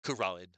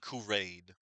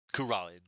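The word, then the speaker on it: Kurain: Yeah, that's how it's pronounced. Kuran. Not Kurin. Kuran.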